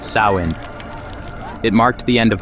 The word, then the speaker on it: Samhain: Fact: the roots go back over 2,000 years to the Celtic festival of Samhain, pronounced Samhain.